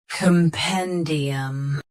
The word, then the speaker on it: compendium: Stress pen. Keep cum soft and D clear. Compendium.